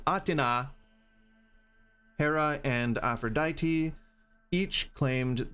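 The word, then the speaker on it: Athena: Three of the invited guests, goddesses, Aina, Atina, sorry, that's how you pronounce her name. Atina, Hera, and Aphroditi, each claimed the apple for themselves and started fighting and throwing food around.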